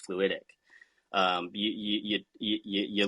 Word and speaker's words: FluidIQ: word fluidic you know you pronounce it fast it's fluidic um you you you